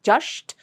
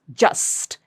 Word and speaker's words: just: So, and a lot of people may make this as a sha sound and pronounce it as just. No, it's not just, it's just. It's a sa sound.